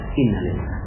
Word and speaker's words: innalillah: Padahal innalillah itu dibaca sama dengan alhamdulillah, sama, jiwanya sama dengan alhamdulillah. Anak meninggal dunia, alhamdulillah. Cuma bacanya innalillah.